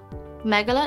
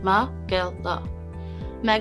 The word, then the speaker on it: megillah: the word of the day is megalo megala is a noun megala is spelled m-e-g-i-l-l-a-h megala is pronounced ma girl means a long involved story or account for